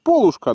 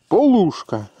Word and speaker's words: полушка: полушка у нас трусы говорят полушка но говорят надо правильно говорить полушка люблю такие монетки это